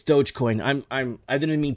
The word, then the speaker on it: Dogecoin: iii and lord humongous it's not dodge it's doge oh i'm so sorry guys it's not dodgecoin it's dogecoin i'm i'm i didn't